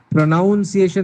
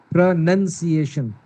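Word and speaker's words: pronunciation: प्रोनाउंसिएशन नहीं अजहर साहब, प्रोनंसिएशन, प्रोनंसिएशन।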